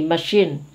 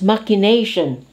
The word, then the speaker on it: machination: the environment machination see very often we are tempted to say machine it's machination this is the underground strategies